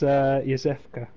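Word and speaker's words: Iosefka: What is that, Eofska? How do you even pronounce these things? When you guys are talking about it, is it just like, yeah, you kind of make up the pronunciation? It's Yosefka. Yosefka?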